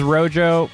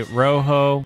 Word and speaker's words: Rojo: use Rojo, aka Rojo, which is the proper way to say it, people. Look it up. It's the right way to say it. Say Rojo in Spanish. Rojo. Rojo. Rojo. Everyone wants to call it Rojo. It's not Rojo.